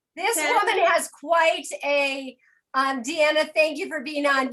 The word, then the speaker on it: Deanna: In Europe, they call me Diana. I will say it's Deanna, and they'll say, oh, nice to meet you, Diana. And I was like, no, it's Deanna. And they say, okay, Diana.